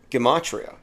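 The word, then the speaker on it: gematria: And if you care for Gamatria and numerology, apparently it's pronounced Gimatria, not with the J, but Gamatria.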